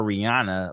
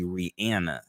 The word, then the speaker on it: Rihanna: with you know Rihanna like we all call Rana but it's actually Rihanna really you know I didn't know I didn't